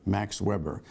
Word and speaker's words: Weber: of a guy named Max Weber. Max Weber actually pronounced his name Max Weber because he was German.